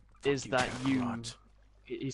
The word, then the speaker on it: Kakarot: And just to clarify on everyone, the actual name for Kakarot is Kakaroto, because like it was a error on or translation error. So yeah. The pronunciation is Kakarot, but the wording is Kakaroto.